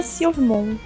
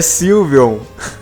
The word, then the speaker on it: Sylveon: Eu gostei da Silvmon. Acho que é assim que se pronuncia. Silvemon? É Digimon? Não. Eu gostei da evolução do Angemon. É Sylveon.